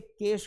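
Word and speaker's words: cache: कोई कैचे पढ़ता है, कोई चेचचे पढ़ता है। लेकिन एक्चुअल में इसे कैश कहा जाता है।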